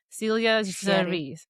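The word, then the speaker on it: Célia Géry: The phonetic pronunciation says C, as for the last name says CH. So Celia Géry.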